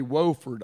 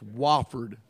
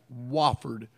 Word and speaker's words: Wofford: If I hear one of you say Wofford, I'm going to come after you. It's Wofford, Wofford, all right? It's spelled W-O-F-F-O-R-D. It's pronounced W-A-F-F-O-R-D, isn't it, Todd?